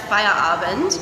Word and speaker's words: Feierabend: It's a German surname, actually pronounced Feierabend.